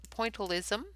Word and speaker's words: pointillism: emily illustrates for showing us a point pointillism that's how you say it and i will